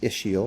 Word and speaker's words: ischial: pretty cool okay um issue ischial spine it's pronounced ischial or ischium so here is the ischial spine